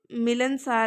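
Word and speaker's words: ملنسار: میں تھا ملن سار۔ ملن سار میں میم کے نیچے جس طرح سے اس کے تلفظ میں دیکھیں، میم کے نیچے آئے گی بیٹا زیر، لام کے اوپر زبر، نون پہ جو ہے نون پہ بیٹا جزم، ملن، پھر سین الف، سین زبر الف سا، سین کے اوپر زبر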